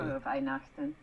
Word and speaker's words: Frohe Weihnachten: Frohe Weihnachten.